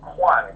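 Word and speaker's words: Cuan: So Hayley just told me C-U-A-N is actually pronounced Quan, Q-A-N, Quan.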